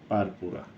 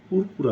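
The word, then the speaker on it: purpura: Idiopathic thrombocytopenic পারপুরা। পুরপুরা আর কি। কিন্তু এর উচ্চারণ হচ্ছে পারপুরা।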